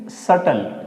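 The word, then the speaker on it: subtle: यहां देखिए कि टी के पहले बी है। यानी कि बी को हमें साइलेंट करना है। तो उसे क्या बोलेंगे? इसको बोलेंगे बी को हमें प्रोनाउंसिएट नहीं करना है। बोलेंगे सटल। क्या बोलेंगे इसको? सटल।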